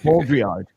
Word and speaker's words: Baudrillard: It's Baudrillard. Yeah. I had to go to Google and to listen to how it's pronounced, and I couldn't.